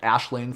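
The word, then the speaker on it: Aisling: a made-up one um ashlane from ashland leprechaun same thing if you're looking that word up it's a-i-s-l-i-n-g uh not not uh not pronounced nearly the same way as what it spelled um it's it's actually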